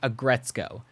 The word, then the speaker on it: Aggretsuko: the description and buy the winning Automatone, the Agretzko Automatone. And if you wanna make a video about it, remember 2 things. It's a red panda, and it's pronounced Agretzko.